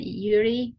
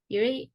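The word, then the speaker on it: Jiří: to welcome uh Mr Yuri is that how you pronounce your name Yuri yes you pronounce it okay okay I tried right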